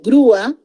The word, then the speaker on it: grúa: Por ejemplo, digo púa, grúa, muy bien señorita, grúa. Entonces el acento está en la sílaba débil, en la U y parto, y esa va a ser una palabra bisílaba. Gru va a ser una sílaba, la otra va a ser A, ¿no?